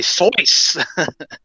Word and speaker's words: Zeus: Oh, if Wisp was here, he'd be Sois. That's the German pronunciation.